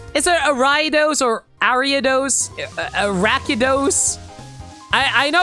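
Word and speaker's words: Ariados: Box you go arados so you pronounce it like arados fair enough you know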